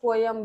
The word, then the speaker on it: poem: Actually कई बार लोग पोम भी बोलते हैं, कई कुछ बार लोग पोयम भी बोलते हैं. तो both are correct. What you feel comfortable you will pronounce it.